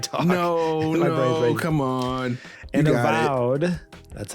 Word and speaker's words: Avowed: And Avowed, that's how you say it, and Avowed perpetuates an annoying trend in pre-ordering games.